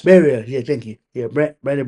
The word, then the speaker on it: Barrios: Bar, ba, ba, ba, ba, Oh, Barrios. Barriers.